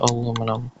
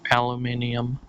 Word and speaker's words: aluminium: to raw aluminum or aluminium for those of you who wish to refer to the original pronunciation which I do believe that was aluminium. I live in America. I'm used to saying aluminum though I can say aluminium quite well h yeah I do